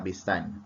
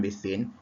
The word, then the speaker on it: besan: Beliau ada 2 hubungan dengan Nabi, iaitu bapa saudara dan juga besan. Besan ya, bukan besin.